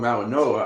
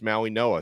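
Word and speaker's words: Mauigoa: time listen dude I I pronounce names the way people and their cultures pronounce apparently that that's the Hawaiian uh the Pacific Islander pronunciation is Maui Noah so I I I'm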